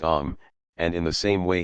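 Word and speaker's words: homme: a piece of bark he learned from d arnot that it was pronounced om and in the same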